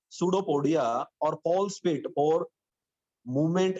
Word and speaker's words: pseudopodia: Pay attention to the pronunciation. P is silent, pseudopodia. It is pseudopodia.